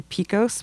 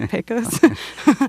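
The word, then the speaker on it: Pecos: Picos which is very I'm from Texas so it's hard for me to say Picos but that's how they say it I would say posos um but that's the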